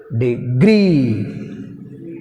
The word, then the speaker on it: degree: Degree, degree, degree. Pronunciation is very important. మనం దాన్ని గట్టిగా పలికితే తప్ప ఇది అర్థం కాదు. డిగ్రీ, హియర్ we have stress on second syllable, gree.